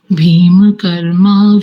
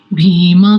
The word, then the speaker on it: भीमकर्मा: धनंजय पम ददम महाश भीम कर्मा कोदर इस शब्द को बोलिए माता जी भीमा कर्मा बहुत बढ़िया पिछली बार मुझको भीम जैसा लगा था भीम लेकिन अभी ठीक था भीमा भीमा ठीक है